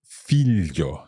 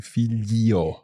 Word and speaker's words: figlio: that we're seeing that although it's spelled G-L-I-O, we're not saying figlio. No. It's figlio. Esatto. It's really important to remember that the letter I in that case is there more for phonetic reasons to tell you that it's not figlo.